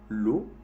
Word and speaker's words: l'eau: E-A-U-X hace también el sonido O. Por ejemplo, l'eau, que es la traducción literal del agua.